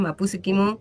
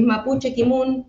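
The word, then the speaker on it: mapuche kimün: Bien, mapuche kimú se pronuncia ahí por ahí decimos, eh, no hemos sido marquetineras porque utilizamos el grafe Mario Ranguileo, que tiene estas particularidades de de algunas eh vocales o consonantes que se pronuncian diferente. Es mapuche kimun.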